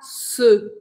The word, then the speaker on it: ce: E o que significa esse se, que se escreve C-E, se, tá? Lembra que a letra E em francês, ela um som fechado, um som de E.